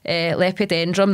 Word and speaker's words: Lepidodendron: Lepidodendron, that's it. Lepidodendron, I got it. See, it just takes a few saying it in my head and then I know. So these trees are referred to as Lepidodendron, and they had this like kind of outer